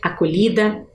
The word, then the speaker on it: acolhi: Aqui nós vamos ter uma pronúncia diferente. Eu até quero que vocês observem quando eu fizer essa pronúncia. Eu gosto de dizer que a gente sente um tremorzinho aqui na bochecha, ó. Acolhi. É um som que a gente faz que a gente sente diferente. Às vezes, quando a gente